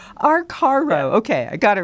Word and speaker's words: Arcaro: I never say Arcaro. Did I say it right, Glenn? I don't. I think you're almost there. Arcaro. Arcaro.